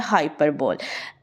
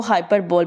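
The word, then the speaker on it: hyperbole: ज़्यादातर लोग इसको हाइपरबोल पढ़ते हैं, जो कि ये इसकी गलत प्रोनाउंसिएशन है। हमारे ब्रिटिश एक्सेंट के अकॉर्डिंग ये हमारे पास जो इसका सेम प्रोनाउंसिएशन वर्ड है वो है हाइपरबल, ठीक है। हाइपरबल इज़ अ ब्रिटिश एक्सेंट, ठीक है।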